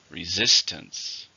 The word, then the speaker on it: resistance: it's a noun uncountable how many syllables in resistance three stress on the second syllable resistance there was a lot